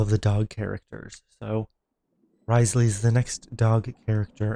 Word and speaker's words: Wriothesley: farm some artifacts for uh risely or Risley I'm not sure which one is the exact correct way to pronounce it but I've heard both in the trailer it was risely so that's kind of what I'm gonna stick with um so I'm gonna